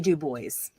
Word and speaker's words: Du Bois: It's W-E-B Du Bois, not Dubois.